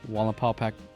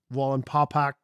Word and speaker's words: Wallenpaupack: Aaron, Wallenpaupack Brewing Company, Wally Hefeweizen.